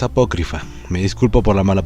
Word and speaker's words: apócrifa: nadie le importe esto pero es apócrifa y no apócrifa así que es apócrifa me disculpo por la